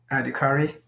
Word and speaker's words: Adhikari: Adhikari. Adhikari.